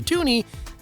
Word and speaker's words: toonie: bird on it, while the toonie, well, it rhymes with loony.